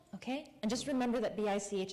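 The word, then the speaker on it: Bich: And just remember that B-I-C-H is pronounced Bic.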